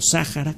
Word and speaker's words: Sahara: desiertos como el del Sahara o Sahara como lo pronuncian las personas que viven allá si usted quiere que